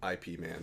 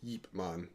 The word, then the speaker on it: Ip Man: a lot of people say IP man but it is it is well I never saw it regardless it's man but if you want to be correct it's eipman but they know nobody would pronounce it like that because half people